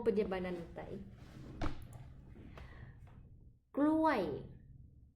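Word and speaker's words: กล้วย: Gluai, gluai, gluai. Ok. Et le mot gluai, c'est encore, attention, parce que si tu prononces mal, cela peut être aussi vouloir dire les parties intimes d'un homme. Donc là, prenons bien le J et le L.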